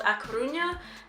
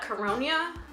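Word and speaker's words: A Coruña: pronunciation for example the the city that I live in is called a Cunha he says it at caronia so if that's any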